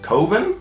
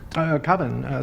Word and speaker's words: Coven: years ago, Coven, or Coven? It's pronounced Coven, man. What else could it be pronounced? Coven. That's the proper pronunciation. No. Coven. No. Coven sounds like oven, man, and that's just, it doesn't work.